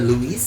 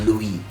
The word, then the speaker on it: Louis: Seperti tadi, Louis itu tidak disebutkan S-nya ya, jadi tidak Louis, tapi menjadi Louis.